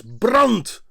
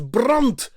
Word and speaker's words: brand: But the word brand in Dutch is pronounced as brunt.